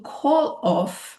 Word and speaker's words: call off: So to call off, remember the pronunciation will link the two. So instead of call off, we say call off.